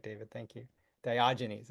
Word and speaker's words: Diogenes: it in the chat diogenes yeah that's right David thank you diogenes it's a soft G I think that would